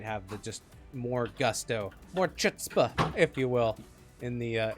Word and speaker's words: chutzpah: just more gusto more chutzpah if you will in the in the random 1b ones and two V twos that breakout during teamfights I believe it's pronounced foot spa spa like that yeah yeah a little